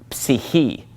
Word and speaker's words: psyche: Well, psyche comes from the Greek word psyche. And they do pronounce that PS at the beginning of the word psyche.